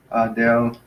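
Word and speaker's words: ἀδελφός: With some of our other nouns, like let's say adelphos, notice the difference. Adelphos. The accent is on the last syllable, so it's adelphos.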